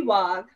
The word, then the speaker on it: Wagh: And is Wagh, I believe is how it's pronounced. Please correct me. It's actually Wagh.